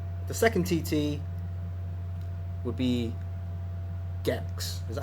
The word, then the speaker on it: Gex: week after that the second TT would be gex is that how you pronounce it gex the G gex the gecko and the third